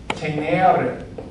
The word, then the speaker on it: tenere: Tenere. Notice it sounds long. When you have a long mark, it takes twice as long to pronounce the vowel.